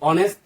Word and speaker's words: honest: बहुत सारे लोग इसको प्रोनाउंस करते हैं कि ऑनेस्ट, नहीं, ये ऑनेस्ट है। तो ऑनेस्ट के जो प्रोनाउंसिएशन है, देखो वैसे तो ये क्या है, ये तो वैसे ये एक हमारा कंसोनेंट है। अगर इसका प्रोनाउंसिएशन करें तो ये ऑनेस्ट है। इसका ये जो एच है, इसका जो है, इसका साउंड जो है ना साइलेंट होता है, साइलेंट।